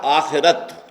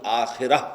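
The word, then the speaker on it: آخرة: کلا بل تحبون العاجلہ، تم عاجلہ سے محبت کرتے ہو۔ عاجلہ آخرہ کے مقابلے میں، آخرہ آخرت جسے ہم آخرت کہتے ہیں، عربی میں اس کا تلفظ آخرہ ہوگا۔ اس آخرہ کے مقابلے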